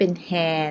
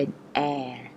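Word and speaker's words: heir: แต่ เพิ่ม Air อากาศ h e i r A จะ ไม่ ออก เสียง นะ คะ จะ ไม่ เป็น แฮร์ นะ คะ ออก เป็น แอร์ a Double l o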